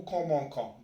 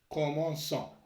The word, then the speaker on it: commençons: لو كان ما نديرش لا سي دي نقراوه نو كومونكون. دونك باش نقراوه نو كومونسون نديرو هذا سي سي دي.